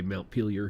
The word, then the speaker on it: Montpellier: Montpellier, I think is how you say it. Say Montpellier here in America.